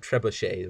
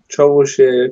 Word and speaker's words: trebuchet: people pronounce it trebuchet though. Troublechit.